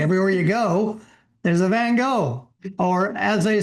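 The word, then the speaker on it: Van Gogh: Everywhere you go, there's a Van Go or as they say in his real name, they really called him Van Hawk. So, uh that's how they pronounced it.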